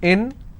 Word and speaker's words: information: If I have more number of syllables, information, first I will break it, information. So where do I stress? I will stress on may.